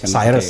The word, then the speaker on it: Cyrus: Kalau ini e sirus bacanya Cyrus atau Syirus? Cyrus ya.